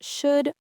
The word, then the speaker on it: should: It's also silent in words like calm, palm, and the modal verbs should, would, and could.